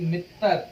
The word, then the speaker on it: मित्तर: मित्तर को कैसे प्रोनाउंस करेंगे, हिंदी में अगर लिखना है मित्तर ऐसे, तो ये क्या लिखा मैंने, मित्तर। जिसको हिंदी में मित्र कहते हैं पंजाबी में उसको मित्तर कहते हैं।